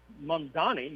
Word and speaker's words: Mamdani: Horn, uh Kamala Harris has been talking with uh Mamdani, if I pronounce his name right. Mamdani.